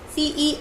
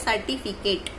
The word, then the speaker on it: certificate: Now our next ninth word is C-E-R-T-I-F-I-C-A-T-E. So now it is also pronounced as certificate.